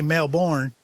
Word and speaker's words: Melbourne: Can't say Melbourne. Like Azie Osborne. Can't say it like that. It's Melbourne.